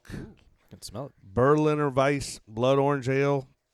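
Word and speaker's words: Weisse: A Berliner Weiss, pronounced Weiss, is a style made famous by its namesake city of Berlin, Germany.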